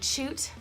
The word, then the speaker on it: Chute: And also subscribe to my e-news at Chute, Chute spelled C-H-U-T-E, pronounced chute like chocolate, .com.